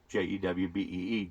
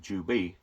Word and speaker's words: Juby: I still pronounce it basically the same, pertaining to a Jew, Jewbee, Juby.